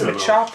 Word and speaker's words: Machop: maop I think it's Machop in in uh English going with a chopping sound you know yeah exactly